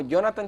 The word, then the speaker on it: Jhonattan: Como Jonathan. En mi nombre se escribe un poquito complicado porque es JHONATTAN.